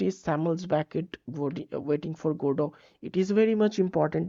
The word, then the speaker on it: Godot: named Godot okay godo actually godo the pronunciation is godo Godot goo okay so